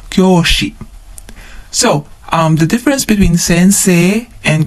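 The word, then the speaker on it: 先生: Sensei. Sensei. Notice that we have a long vowel at the end. Sei. Okay, sensei. Kyoushi. Kyoushi. Again, another long vowel. Kyo. Kyoushi. So, the difference between sensei and kyoushi is that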